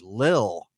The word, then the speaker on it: Lil: But yeah, this one is Little Yachty, or I should say Lil. I can't pronounce so the T's. hard to say that.